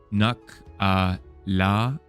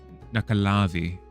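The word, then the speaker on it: Nuckelavee: What pronounced Nakavi? Oh, Nakalavi.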